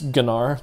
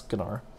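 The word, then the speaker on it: Gnar: didn't know that's actually the correct way to pronounce his name it's ganar the G is not silence than ever explicitly stated that under the right webpage so it's ganar if you want them all right looks like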